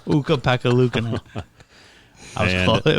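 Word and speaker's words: Ukko-Pekka Luukkonen: They gotta hope Pekka Ukalainen pans out. Yep. Is that how you say it? That's not even close, no, is it? No. Uka Pekka Luukkonen. Uka Pekka Luukkonen.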